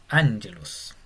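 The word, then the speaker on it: ἄγγελος: Acá hay una particularidad que cuando vemos dos gamas juntas, que sería como GG para nosotros, se pronuncia como NG, como en ángulos. Y por ejemplo lo vamos a aprender muy rápido, muy al principio de nuestras lecciones, porque por ejemplo está la palabra ángelos. Y se escribe no con NG, sino con 2G.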